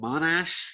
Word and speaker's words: Monash: read your bio on uh at was it monash university is that how you say it yep